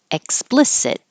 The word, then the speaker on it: explicit: Explicit. You won't hear this K really.